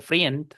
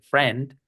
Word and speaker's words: friend: La i, la e, en la palabra friend no se dice friend, se dice friend con e.